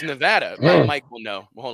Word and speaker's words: Nevada: want Jerry Jerry how about Jerry coming from Nevada Nevada whatever comes down here he came last